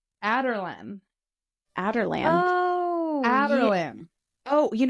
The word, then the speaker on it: Adarlan: So Alderon is not Alderon. It's Adarlan.